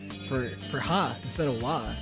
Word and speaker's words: wa: It's not Watashi that's spelled with the ha character. It's wa.